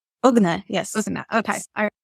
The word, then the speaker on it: Ugnė: you that's awesome congrats and you said you pronounced your name ugna is that correct ugna yes ugna okay right all right I looked